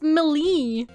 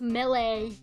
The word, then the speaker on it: melee: Then I was like, oh yeah, it's Millie. And then turns out it's Melee.